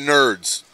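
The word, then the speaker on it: Knerds: ogk congratulations the ogk Nerds nerds with the k spell with a n k is silent it's a yeah like night all right all right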